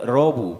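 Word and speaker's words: ラブ: amor pero pues realmente utilizan es el inglés robu porque no pronuncian bien la l entonces Love es robu no Entonces los hoteles los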